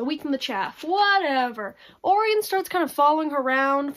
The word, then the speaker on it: Orion: lake and he's orient it's not orient it's orion um i kept saying it wrong um he is